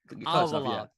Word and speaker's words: Alvalade: You got to tell me how to pronounce this, Sam. All things Alvarade? Is that Alvarade? Alvarade.